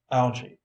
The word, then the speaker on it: algae: Algae. Pronounced algae.